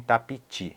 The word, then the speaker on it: tapiti: Reparem bem na pronúncia para não dizerem tapiti. É tapiti. Ti. Lembrem desse ti. Tapiti.